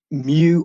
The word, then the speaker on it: mu: be, it's based on the Buddhist concept of mu or mu, depending on how you want to pronounce it, mu.